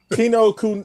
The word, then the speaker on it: Kinokuniya: How do you pronounce that? Kinokuniya. Basically, what they said. Kinokuniya.